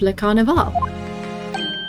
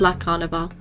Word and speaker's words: Le Carnival: some sort of trademark of le carnival so it's la carnival i've been saying it wrong this whole time this emblem on the